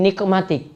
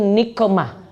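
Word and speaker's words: نقمة: Ya, wa fujaati nikmatik. Ini bacanya itu nikmah, bukan nikmat. Kalau nikmat itu baik. Kalau nikah pakai qaf, nikah jadi musibah. Cuma beda loh ini, beda ain sama qaf.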